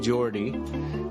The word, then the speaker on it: Jorte: It's spelled Jorte, Geordie.